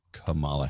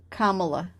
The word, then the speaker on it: Kamala: And from what I had heard, that Biden and Kamala Harris are, actually, I read it. You said her name wrong.